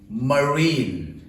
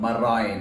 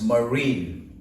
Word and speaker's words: marine: okay it's choir choir the next word is pronounced as marine and not my Ryan its marine okay Murray did you collect the receipt now